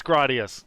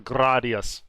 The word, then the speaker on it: Gradius: fight about this uh is it pronounced gradius gradius gradius your thoughts it's gradius there's no there's no contest it's gradius I go by Japanese phonetics when I pronounce it but uh I think the chat will back me up it's 100% gradius now is that how